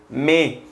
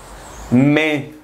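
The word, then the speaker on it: mai: fe fe marzo abril abril abril Mayo es me me junio y y Julio y Yu agosto es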